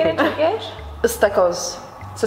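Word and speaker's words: ıstakoz: Istakos.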